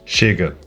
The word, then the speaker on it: chega: First, a sh sound spelled with CH or with X. So, in Spanish we have llega but in Portuguese chega meaning arrives.